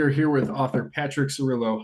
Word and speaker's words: Cirillo: We are here with author Patrick Cerillo. How are you sir? I'm pretty good. How about yourself? Very well. And did I pronounce that correctly? Cerillo.